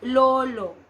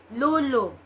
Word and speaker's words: Lolo: will hear them say Lolo and Lola but for us we have a distinct o sound it's a little harder Lulu Lola Lolo and Lola